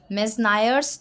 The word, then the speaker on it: Meusnier: सो, इसका प्रोनाउंसिएशन है मेनायर्स थ्योरम।